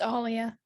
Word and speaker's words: Aaliyah: Aaliyah or Aliyah? It's Alia. Aaliyah.